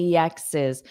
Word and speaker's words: exes: So this apostrophe S, it adds an extra syllable.